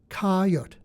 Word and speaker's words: coyote: Perhaps unfamiliar to readers in the Ninth, it was pronounced like the beast coyote, but with a silent e, coyote.